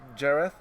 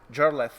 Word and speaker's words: Jarlath: Trošku prosím vás potišej, And I have the third pair here from Ireland, Connor and Jareth. Jarlath. Yes. Jarlath.